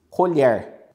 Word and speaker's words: colher: som é diferente né uma se diz colher e a outra se diz colher perceba que o som é diferente né existe a diferença nesse e uma tem um som de e fechado e a outra